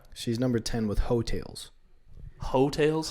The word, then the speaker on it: Heaux: Hotels? Hotels, like hoe, but it's spelled like hoax. You know, like a UX in there.